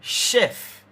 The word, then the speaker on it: chef: The sound in the word chef. The very first sound in chef. It sounds like you're saying an sh.